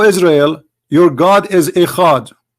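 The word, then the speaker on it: אחד: O Israel, your God is Echad. Echad. This is the word ahad. They have even the same pronunciation.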